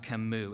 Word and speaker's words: Camus: who died in 1960 Albert that's pronounced kammu and he wrote this